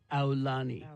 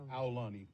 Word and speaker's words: Aulani: much more than that you pronounce it like Ow like you got hurt for Aulani Aulani whatever in a huni thing